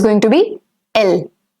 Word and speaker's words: elle: So it's going to be L.